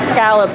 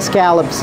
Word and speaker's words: scallops: And then scallops are also some of my favorite seafood. Scallops. It's big and fleshy. Scallops. Vous comprenez comment on prononce ça? Scallops. C'est pas scallop. Scallops.